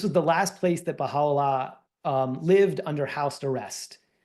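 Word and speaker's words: Bahá'u'lláh: where Bahala and I put the pronunciation up there. The ha is the is the emphasis. This was the last place that Bahala um lived under house arrest.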